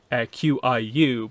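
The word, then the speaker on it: Qiu: One of the dead bodies is the character I've been pronouncing as Q, Q-I-U, but I got the audiobook today, and she pronounces it in the audiobook as Q. So the idea, I think, is that QI is another way of saying chi. So, chi-you, so Q.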